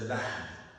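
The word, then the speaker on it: اللحد: وَآخِرُهَا, the last of that is al-lahd. It rhymes with al-mahd, which is the grave.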